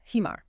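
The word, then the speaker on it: حمار: That fogging the glass sound is the Arabic ha. Try it with the word. Okay, let me fog the glass. Hemar.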